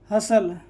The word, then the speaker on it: hustle: इस तरह से HUSTLE, तो यहाँ पर T साइलेंट हो जाएगा। हसल, नेसल, रसल, ठीक है।